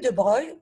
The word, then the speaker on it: de Broglie: goûté à l'or lui de breuil bon ça s'écrit lui de broglie ans que je vais à briller par ldb mais on le lit lui de breuil alors lui de bras